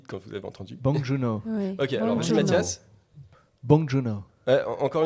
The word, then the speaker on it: Bong Joon-ho: n'entend rien dit quand vous êtes en 38 bong joon-ho mathias bon john a encore une fois avec